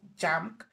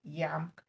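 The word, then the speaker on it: JAMK: is pronounced as e so that's why i pronounced it like that so it's not called junk it's called yam uh the name in finnish is and matacor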